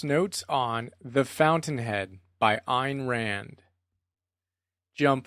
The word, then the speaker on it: Ayn Rand: it is their own souls end quote that's ein rand from the introduction to the fountainhead so ein ran and that's how you pronounce her name ein uh she's kind of